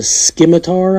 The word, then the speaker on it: scimitar: swoop on the blades really nice it's a scimitar I think is how you say it shaped